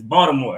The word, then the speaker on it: Baltimore: And she pronounced it wrong. It's Baltimore. Everybody, it's Baltimore. Baltimore. Silent. Yeah, I was trying to get all that out. I pronounced like a D.